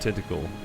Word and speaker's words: Tintagel: With the tentacle, apparently is how you pronounce that.